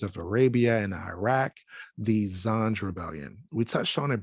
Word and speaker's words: Zanj: In Wikipedia, it mentions the Zanj dynasty, and Zanj is in our Arabic is pronounced as Zanji, Romanized Zangi, Turkish Zenchi,